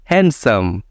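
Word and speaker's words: handsome: कहेंगे तो गलत होगा वेनसडे नेक्स्ट आपका है हैंडसम जो हम लोग अक्सर कहते हैं हैंडसम हैंडसम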